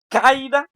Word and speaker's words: caída: ¿Cuál vocal suena más fuerte? ¿La abierta o la cerrada? La abierta, o sea, la A, o la cerrada, o sea, la I. ¿Cuál de esas dos? ¿Cuál de esas dos notan que suena más fuerte? ¿La A o la I? ¿Es caída o caída? Cómo se dice correctamente? Caída, así se dice.